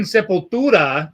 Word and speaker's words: Sepultura: And if you ever seen Sepultura, the proper pronunciation, by the way, you see them back in the day, in their prime, when they would play that song.